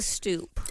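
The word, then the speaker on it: stoup: a blooper get ready she calls it a stoop I'm going to throw up and it's spelled s t o u p oh my God it's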